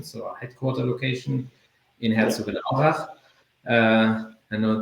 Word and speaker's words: Herzogenaurach: our HQ location, so our headquarter location in Herzogenaurach. I know it's difficult to pronounce.